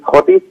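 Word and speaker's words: Thwaites: এখানকার যে major glacier, যেটাকে থটিস বলা হয় বা থয়েট বলা হয়, দুরকম উচ্চারণ আছে এটা, সেখানে সেই গ্লেশিয়ার যদি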